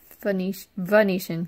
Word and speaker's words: Venetian: Venetian with a V. I know it sounds like I'm saying Phoenician, like Phoenix, but it's Venetian.